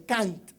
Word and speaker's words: Kant: Hay que pronunciarlo con T porque si no tendría nombre de perro y eso es muy feo, ¿no? Entonces, en Kant.